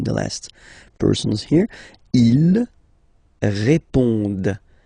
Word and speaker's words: répondent: Ils répondent. So same thing here, classic ending, ENT, but then you don't pronounce it. Okay?